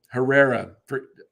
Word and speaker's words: Herrera: I always mess up his name. Herrera. Odubel. That's how you say it, yeah.